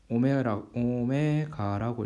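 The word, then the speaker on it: ω: 이제 기호로는 소문자 W처럼 쓰는데 얘는 뭐라고 읽냐면 오메가라고 읽어요. 오메가.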